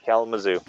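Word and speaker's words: Kalamazoo: in Hallelujah next3 and yes William you you pronounce it right K Mao yep I grew up about two M two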